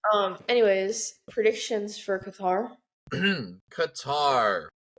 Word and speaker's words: Qatar: anyways predictions for Kar Qatar or as some weirdos say cutter um is interesting I heard a couple people that can't pronounce it so they could say cutter I don't know why